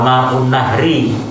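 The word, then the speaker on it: ماء النهر: Yang ketiga wa ma'un nahri. Jadi pembacanya gitu ya. Dua kata itu dijadikan satu.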